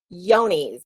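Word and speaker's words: Johne's: have mispronounced it myself so it is yonies is how it said yonies and you can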